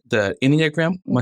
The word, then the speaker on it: Enneagram: The Enneagram, am I saying it right?